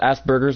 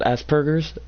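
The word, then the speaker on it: Asperger's: have autism cuz as it's not called Asbergers it's called Aspergers it's like sounds like burgers but it's a asper or it's hard to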